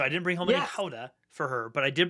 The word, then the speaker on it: Gouda: any any they don't call it it's not pronounced gouda in the Netherlands it's halda and so I didn't bring home any Hoda for her but I did bring home some